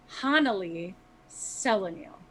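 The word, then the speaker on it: Hanali Celanil: from the dnd website i'm butchering that pronunciation it's honolly selenium well personally i wouldn't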